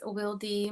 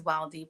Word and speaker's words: Wildy: my artist name but Wy is my actual name um it some people pronounce it as wildy but I am Dominican American and my name um is pronounced in Spanish so um I was